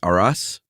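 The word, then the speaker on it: Arras: They had a successful bakery uh in uh how do you pronounce that? Aras, I think so.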